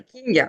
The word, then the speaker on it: Kingue: Je sais, King, je sais, King, ah King. c'est King, ah c'est vraiment King, d'accord.